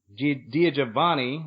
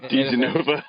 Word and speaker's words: DiGenova: And when I saw it, I think it was Andy DiGiovanni. I always pronounce his name wrong, so you can probably. Oh my God, DiGenova. Andy DiGenova.